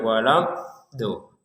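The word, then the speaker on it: ولا الضالين: Kata waladolin ini juga harus ditekankan. Yang pertama huruf dnya ada tasydid. Jadi harus ditekan walad do walad do. Jadi bukan sekedar walad kan enggak ada tekanannya. Yang kedua yang paling terakhir. Nah yang kedua panjangnya walam do. Dnya panjang itu enam harakat. Walam dol. Habis itu ditekan di huruf lamnya.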